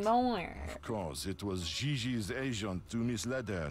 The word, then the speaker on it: Gigi: She may very well be JJ in America, but in France, she is Gigi.